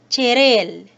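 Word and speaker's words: 칠일: Together, it is pronounced as samil. Another example, 7 days, chiril, chil, il, chiril.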